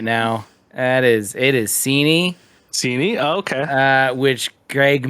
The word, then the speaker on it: Seaney: Did I say your name wrong? That's an open wound for me right now. It is Seaney.